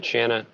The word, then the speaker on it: Shanna: training without the end so shanna without it's like shannon without the ending shannon shannon yeah right